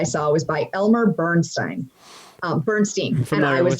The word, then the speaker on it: Bernstein: original music I saw was by Elmer Bernstein Bernstein and I was like huh wait is this is this guy related to Leonard Bernstein no this is pronounced Bernstein they're not related they they they were friends